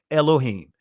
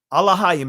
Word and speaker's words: Elohim: Elohim, right? gods in the ordinary sense specifically used of the supreme god, angels, judges. So alohaim is the ancient Elohim, elohim. That is the Israeli pronunciation of it.